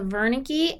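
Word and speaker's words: Wernicke: so these are the Verna key and the Gnostic and Verna key is a German word so it's spelled with a W but it's pronounced like a V the Verna key is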